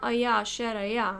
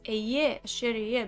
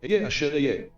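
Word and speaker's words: אֶהְיֶה אֲשֶׁר אֶהְיֶה: So he's not Aya asher Aya. He's Eye asher Eye because he's infinite. This is how you pronounce it. Eye asher Eye.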